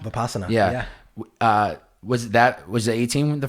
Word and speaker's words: Vipassana: Tell me if I pronounce this right. Is it Vipassana? Vipassana.